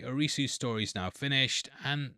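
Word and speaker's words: アリス: Well, Arisu was actually the Alice for the three seasons. This is because the Japanese pronunciation of Alice isu.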